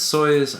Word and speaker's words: Soyuz: It's Soyuz. At first I thought it was Soyuz, but then I looked up the pronunciation. It's Soyuz. I'm just hoping I'm saying it right.